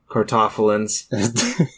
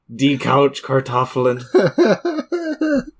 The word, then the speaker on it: Kartoffeln: All you lovely tater tots and couch potatoes and die couch cartoffelins. Yeah, I was going to correct you on the pronunciation, then I remembered I failed German. So, Die Couch Kartoffeln.